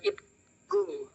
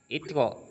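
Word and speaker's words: 있고: Ga itku. Itko. Pakai Itko.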